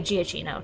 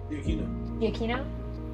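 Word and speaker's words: Giacchino: say his last name it looks like giacino to me he is what is it the Aquino thank you he's amazing does awesome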